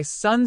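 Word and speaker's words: Xu: The 6 sounds are Su, pronounced like sh with a deep sigh, which is associated with the liver.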